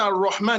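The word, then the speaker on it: الرحمن: But in the real sense, when you are pronouncing Ar-Rahman, it is raw, not ra.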